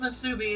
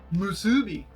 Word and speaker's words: musubi: that well we learned it's not pronounced masubi it's pronounced musubi no it's pronounced differently